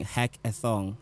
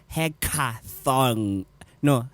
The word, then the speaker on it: hackathon: to pronounce it guys it's heck hecka Thor no hecka Thorn like a thorn that bites you uh that that picks you not thong like no guys you